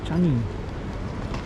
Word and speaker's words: Changi: Changi, that's how you say it.